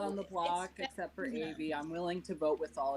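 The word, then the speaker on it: Avie: And now that's Avi, yeah, I don't pronounce it that way.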